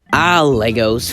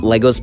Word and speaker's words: Lego: Legos. Who doesn't love Legos? And yes, I know it's pronounced Lego, not Legos, but this is my show, so I can do whatever I want.